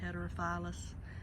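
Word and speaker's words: heterophyllus: That's Osmanthus heterophilus, I believe is how you say that, heterophilus. Either way, they are a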